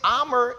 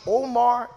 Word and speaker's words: Omar: If you say my name Amr in Arabic, or you say my name Omar in English, it is the same name, but just a different language.